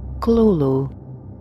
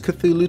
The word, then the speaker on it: Cthulhu: Now, before you give me any crap in the comments about my pronunciation of the word, listen to this. Kalulu. Kalulu. Yeah, I thought it was Cthulhu too, but, well, this is how you say it.